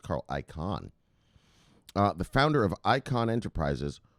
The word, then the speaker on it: Carl Icahn: I think his name is pronounced Carl Icahn.